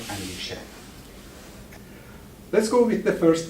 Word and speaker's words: andishe: And there's another part which is term which is andishe, with accent on the end of the game.